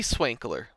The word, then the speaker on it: Swankler: The Sea Swankler. Spell that? SWANKLER. Oh my god. Okay, that's actually how I thought it's. All right. Okay. Like sprinkler, but with a W instead of a P.